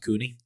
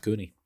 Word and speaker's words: coney: But you make your own hot dog or like a coney. Like the the hides coney. Yeah, it's pronounced cooney. It's It's There's only one O. It's pronounced cooney.